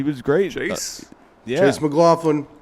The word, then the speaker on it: McLaughlin: Chase McLaughlin. McLaughlin.